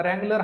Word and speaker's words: Wrangler: एक नाव काय रगलर आता रगलर हा जो शब्द आहे त्याची जर स्पेलिंग जर तुम्ही जर बघितली तर डब्ल ने सुरुवात होते परंतु ज्यावेळेस उच्चार करतो आपण त्याचा आपण आर पासून सुरुवात करतो म्हणजे थोडक्यात काय आहे